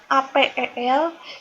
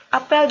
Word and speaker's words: apel: Keduanya tulisannya sama, APEL, cuman yang pertama yang buah itu diucapkannya apel. Sementara yang kedua upacara apel. Nah, E-nya itu agak sedikit berbeda, tapi tulisannya sama.